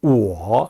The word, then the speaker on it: 我: 제3성으로 我 이렇게 발음해요.